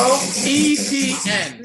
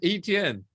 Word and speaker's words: Etienne: It's 3 letters, bro. ETN. Just say it like that. ETN, bro. It's so easy. Travis Etienne.